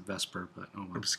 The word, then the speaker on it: VSEPR: I sometimes pronounce it Vesper, but oh well.